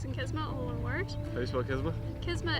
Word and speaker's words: Qisma: kisma all inward Facebook kisma is spelled q i s m a not quisma we're really excited for